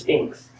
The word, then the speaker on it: Sphinx: Oh, wait, I've been saying it wrong? Why do I want to say Sphinx? But it's just Sphinx.